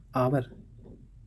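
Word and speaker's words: hour: हाँ, यहाँ पर देखिए एच यहाँ पर चुप है, ऑनेस्ट एच को छोड़ दीजिए, ऑनर, आवर, एयर।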